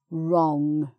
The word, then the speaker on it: wrong: a word beginning WR, which is that you don't make the W sound, you just make the R sound. So it's right, wrong, like that.